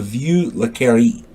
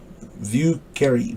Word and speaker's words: Vieux Carré: And if you do visit there, don't you dare miss out on the Vieux Carré. Vieux Carré. Vieuxcarre. I hope I'm saying that right. Vieux Carré.